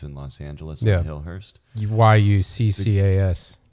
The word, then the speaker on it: Yuccas: If you guys want to check it out, it's Chucka's. It's in Los Angeles on Hillhurst. YUCCAS. Or Yucca's, not Chucka's.